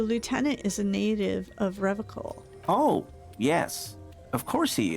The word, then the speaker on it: Revachol: He pronounces Revachol with a hard K, unlike other people. Serious question time. This man is no innocent. No one is. You said Revachol. I like to pronounce it the hard way. The old way. The Vespertine way.